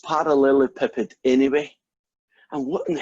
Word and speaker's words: parallelepiped: is I think it's gone e well it's pronounced parallelepiped anyway and what in the heck is it